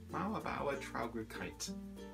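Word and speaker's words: Mauerbauertraurigkeit: Mauerbauer Traurigkeit. M-A-U-E-R, Mauer, B-A-U-E-R, Mauerbauer, T-R-A-U, Traurig, R-I-G-K-E-I-T, Kite. Mauerbauer Traurigkeit.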